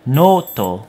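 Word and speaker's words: ノート: When we want to represent the English sound o, as in with a long o sound, so the word note will change to noto.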